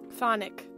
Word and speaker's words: chthonic: Thonic. Oh, Thonic. Okay. It's like saying Sonic the Hedgehog, but with a slight lisp.